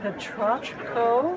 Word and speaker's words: Petrochko: I'd like you to meet Peter Petrochko. Did I get that Yes, you did.